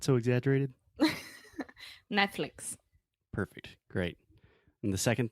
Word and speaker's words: Netflix: wanted to mention is in the second syllable the second part of the word we're saying flicks so this is the e sound it's not Netflix Netflix cool so all together